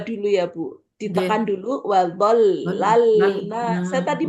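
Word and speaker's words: وظللنا: Bu Rini itu yang wazollal itu kan lamnya ada tasjid ya bacanya itu wollalna seperti dua nggih. Iya. Heeh. Ee ini kan dua dulu ya Bu. Ditekan dulu. Wadollalna.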